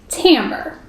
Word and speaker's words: timbre: use is called Tambor Tambor is one of those words that doesn't look exactly like it's spelled we say it tammer it just means the